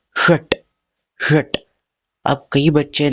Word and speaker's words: षट: तो ये षट का श कैसा है? प जैसा है, तो हम कैसे कहेंगे? षट। षट, ठीक है। प्रोनाउंसिएशन में डिफरेंस समझ आया?